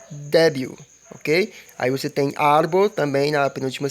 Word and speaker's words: árbol: Aí você tem árbol também na penúltima sílaba, árbol, que é árvore.